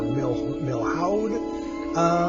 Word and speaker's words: Milhaud: So Darius Milhaud, I think is how you pronounce his name. I'm not sure. Milhaud.